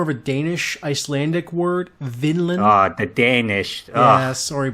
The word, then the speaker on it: Vinland: We're talking about Vinland.